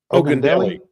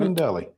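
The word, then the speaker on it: Ogundele: Josh Ogundelli. Okay. Mm-hmm. Ogundelli. And Okay. Ogundelli rhymes with his nickname Jelly.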